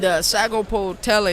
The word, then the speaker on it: Sagapolutele: And Sagapolutele is how it looks.